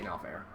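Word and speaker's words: Norfair: People pronounce it weirdly. I say No Fair.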